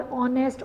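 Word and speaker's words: honest: ओ यू आर बेटा एच से start हो रहा है लेकिन एच साइलेंट है और साउंड क्या है वावल की आती है आर ऑनेस्ट ऑनेस्टी आर तो यहां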